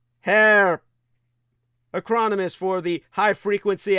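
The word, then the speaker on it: HAARP: The HARP, properly pronounced as HARP, acronymous for the High Frequency Activated Auroral Atmospheric Resonance Research Projection Program, so popularly discombobulated as simply HARP.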